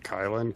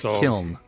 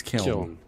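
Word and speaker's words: Kyln: Is it Kylin? K-Y-L-N? Sure. Never heard of it before. Kyle? It's Kiln. It's Kiln.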